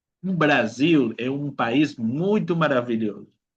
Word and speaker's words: Brasil: Cuando la s, chicos, está en medio de dos vocales, ¿okay? Dos vocales, va a ser un sonido como de abeja. Z. Okay. Por ejemplo, casa. Okay. Casa. Brasil.